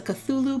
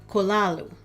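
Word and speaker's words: Cthulhu: HP Lovecraft and some people call this a cthulu but apparently it's supposed to be pronounced kolalu so here we go hello everyone starting off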